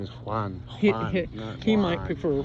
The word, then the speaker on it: Juan: right his name is Juan ju he might prefer Juan but I think it might be J which pronounced kind of like with a like an H kind of sound in Spanish Janan in this case